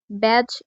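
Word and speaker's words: badge: অর্থাৎ এর সঠিক উচ্চারণ হবে ব্রিজ। একইভাবে ব্যাজ শব্দটিতেও ডি এর পরে ডি আছে কিন্তু ডি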